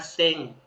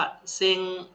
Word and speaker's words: 千: นะ ครับ เฮียกุ แปล ว่า ร ถัด มา เซ็ง นะ ครับ พัน สมมุติ ว่า 1ัน เยน เรา จะ พูด ว่า เซ็ง eng เซ็ง eng นะ ครับ เอ เนี่ย ก็